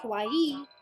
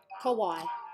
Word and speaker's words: kawaii: random ye is cute but listen to the pronunciation for why things scary say kawaii kawaii let's do some points for I didn't know